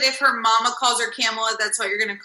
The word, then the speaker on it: Kamala: I think the pronunciation of her name is actually Kamala. They told me it's like the comma and then the la, because I kept wanting to call her Kamala and Kamala, but I've been corrected now, and I think it's actually Kamala.